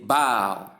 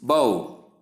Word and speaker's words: bow: So next is B-O-W, which we can pronounce in two different ways. We say bow in the first place to mean to bend forward in honor, to bend forward in honor.